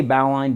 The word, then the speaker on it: bowline: of the knots but I say bow line because of the nomac clature coming from the line that holds the edge of a sail towards the bow of the ship which if you know